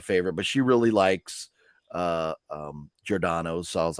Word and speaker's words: Giordano's: And you got your Giordani's. I did get Giordani. Yeah, man. Now you even got me saying it wrong. Giordani's? Yeah, you got me because Giordano's.